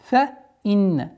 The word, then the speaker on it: فَإِنَّ: فَإِنَّ. Четкое произношение кесры. Удержание назализации в размере двух огласовок. И переходим на лям.